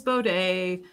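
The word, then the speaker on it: baud: know i don't know we learned them as bode um i think other people pronounce that differently um but like that was how it was pronounced across the board in our engineering department so i'm going with bode b-o-d-e uh i think some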